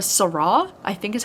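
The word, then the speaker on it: sara: call her a vampire they call her a sarra I think is how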